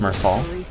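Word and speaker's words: Meursault: I'm pretty sure it's pronounced Mersal. Like the T is silent, correct? Mersal. Yeah, the L and T are silent.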